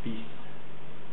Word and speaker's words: fils: The exceptions would be il, avec, and fils, which for some reason you don't pronounce the L, but you pronounce the S.